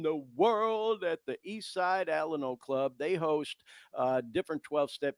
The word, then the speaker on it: Alano: I kind of came from the school where we equated the pronunciation Alano with Alamo, like the Alamo in Texas, the last stand, you know what I mean?